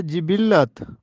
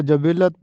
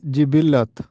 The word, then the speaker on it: جبلت: عید الاضحیٰ درست ہے۔ درست تلفظ ہے جبلت، اکثر لوگ اس کو جبلت بولتے ہیں جبکہ درست تلفظ ہے جبلت۔ بسم اللہ الرحمن الرحیم۔